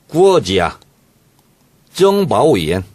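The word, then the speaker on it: 国家情报院: 국가정보원은 중국식 발음을 이렇게 합니다. 어떻게 합니까? 구어지야. 정바오이엔.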